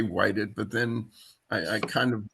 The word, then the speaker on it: Whitted: Whited. Oh, Whited. It's like the past tense of white. Okay. That helps. I was going to say whited, but then I kind